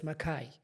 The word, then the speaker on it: Makayi: H or something, but the K is pronounced as if there's an H there. So, it's Makai.